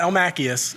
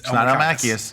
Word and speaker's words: Elmakias: My last name is spelled E L M A K I a S. It's right there on screen. There it is. It's not Elm Machius. It's Elmakius. It's El Makias.